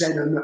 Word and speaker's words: Zenon: And so I chose Zenon, just without, Zenon with an X, but no one could pronounce it. It was like Exanon. So I changed it to a Z. So it's just Zenon.